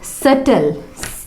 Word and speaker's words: subtle: Debtor यानी कर्जदार, doubtful, सटल, SUBTLE, टी के पहले आ रहा है बी, इसीलिए वहाँ पे बी साइलेंट है, सटल।